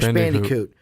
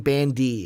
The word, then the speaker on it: Bandicoot: I don't know why I'm saying bandy its bandicoot I don't know why I'm